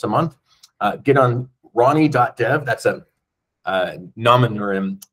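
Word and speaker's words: R9y: month uh get on ronnie. deev that's a uh nomin uh for reliability R9 y we pronounce it Ronnie ronnie.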